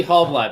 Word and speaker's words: Halbleib: Hey, yeah, it's pronounced Halbleib.